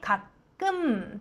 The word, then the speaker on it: 가끔: 가끔, 時々。끔 の 받침、ミンパッチムは唇をしっかりと閉じて 가끔 と発音します。버스를 탈 때도 있는데、